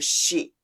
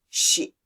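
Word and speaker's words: し: Note that I did not pronounce this character C because Japanese don't have the C pronunciation, so we tend to pronounce this character Shi. Shi.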